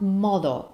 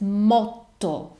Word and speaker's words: motto: ones is Moto motto it's not model it's motto why we have two consonants we need to make them clear so it's two consonants and you need to pronounce both of them to emphasize them Perfecto Let me Give